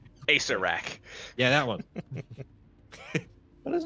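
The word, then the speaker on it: Acererak: A Sararek. Acerrak.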